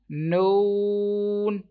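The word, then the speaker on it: نون: Some people pronounce this letter like mim and this one like lam, mim. They take sound into their nose, like lam. So that is wrong.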